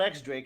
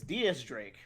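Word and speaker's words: Diez Drake: next barrels and also it's not x drake it's diaz drake oh and i always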